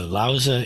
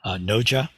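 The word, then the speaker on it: 老子: So Lauza is more or less as close as I can get to the modern Mandarin pronunciation of the name of this very famous and revered philosopher sage. Noja is the Korean pronunciation.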